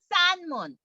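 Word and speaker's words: 閂門: 허이문, 싼문. 싼은 문을 닫다라는 겁니다. 허이문, 싼문. 싼문. 싼문. 네, 싼문. 싼문. 싼문. 잘하셨어요. 그 마운틴 할 때 산수 할 때 산이랑 발음 같아요.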